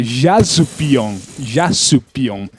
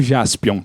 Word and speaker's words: Jaspion: Só que como o japonês fala Jasupion, então ficou Jaspion pra gente.